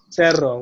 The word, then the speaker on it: cerro: So the third letter of the alphabet, C, can sound like an S, like S or zeta, unless it's accompanied by letter A or O or U. So that's why cama sounds cama, but there is another case, which is cerro, which means mountain, and it will be written C-E-R-R-O, cerro.